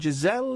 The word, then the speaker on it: Giselle: It's got a soft G. It's not a je. It's not je. It is a je.